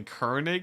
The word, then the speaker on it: Koenig: is a u so as in hurl curl Kirk kernig kernig so it's actually kernig that's what they that's